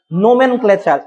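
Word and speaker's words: nomenclature: এটা অনেকে কালচার লিখে ফেলো, এটা কিন্তু কালচার না, এটা উচ্চারণ কি হবে? ক্লেচার। ক্লেচার উচ্চারণটা কি হবে? ক্লেচার। তাহলে নোমেন, NOMN, নোমেন, নোমেন ক্লেচার, ক্লেচার, নোমেন ক্লেচার।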